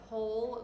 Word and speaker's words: whole: just add zero so think of whole like the word hole like it's a hole in the ground spelled without the w but that's like a